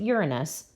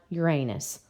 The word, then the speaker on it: Uranus: Yes, you pronounce it “you’re a nuss” not “your anus.”